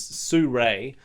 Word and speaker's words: Sirui: How would you How would you pronounce that? Sirui. It's here. Just there. Yeah, I'd say that. Okay. Thank you. Someone said on one of the last videos it was Suray.